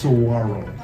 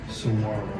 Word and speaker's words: saguaro: pronounced Saguaro. Saguaro. The G-U-A in Spanish is wa, so that we have the Spanish influence in our words, and they start from these seeds.